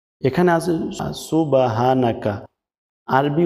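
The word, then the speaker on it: سبحانك: করে লক্ষ্য করবেন দেখুন এখানে আছে সুবহানাকা সম্পূর্ণ ভুল বলতে হবে হাকা সুবহানাকা হা এখানে হ আকারে হা বলা যাবে না বলতে হবে হাব সুবা বলা যাবে না বলতে হবে সুব হানাকা আল্লাহুম্মা আল্লাহুম্মা বলা যাবে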